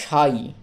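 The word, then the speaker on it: sigh: হচ্ছে না এরপরে দেখো সাই এস আই জি এইচ সাই সাই মানে হলো দীর্ঘশ্বাস হাফ ছেড়ে বাঁচা আর কি দীর্ঘশ্বাস এক্ষেত্রেও জি এইচ টার উচ্চারণ হয় না অনুচ্চারিত থাকে সাইলেন্ট থাকে তাহলে এস আই তেই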